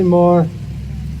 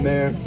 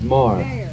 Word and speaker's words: Maher: Some people say Mar, some people say Mayor. It's Mar.